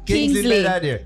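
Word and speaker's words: Kingsley Ben-Adir: Bensley, you said? Kingsley Ben Adair. You are confused right? me now. Kingsley Ben Adair.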